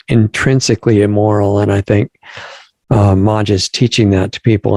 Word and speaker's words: Maj: I was saying it wrong before, Maj, but it's Maj.